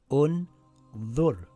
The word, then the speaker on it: ٱنظُرْ: The third letter has a dhamma. So we place a dhamma on Hamzatul Wasl. This reads Un-Dhur.